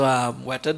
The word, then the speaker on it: Weta: Okay, so Weta Digital, and that is how Peter Jackson pronounces it, by the way.